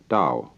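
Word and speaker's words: Tao: we can make to a Chinese word Dao you know that's spelled t-a-o I don't know why because it's usually pronounced Dao and the Dao means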